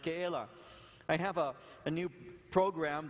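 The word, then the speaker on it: Keilah: that is actually helping me to learn to pronounce these names you know i just as soon call it kayla and get away with it but the name is ke la and it the the word literally means citadel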